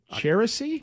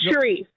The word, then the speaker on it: Cherie: How would you even pronounce that name? Cherisy? I can't say it. Cherisy? It's Cherie. Cherie.